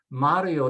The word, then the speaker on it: Mario: Mario doesn't have an accent, and so it is pronounced with next to the last, Mario.